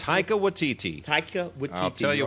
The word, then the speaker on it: Taika Waititi: Can you pronounce it? Taika Waititi.